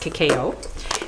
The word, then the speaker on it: cacao: This is cocoa. It's raw, so it's actually pronounced cacao.